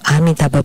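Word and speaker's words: Amitabha: Amita budha so when so his chanting of amaba Buddha is correct ma Buddha is the shortened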